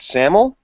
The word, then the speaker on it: SAML: You want to talk about how do you pronounce that? SAML?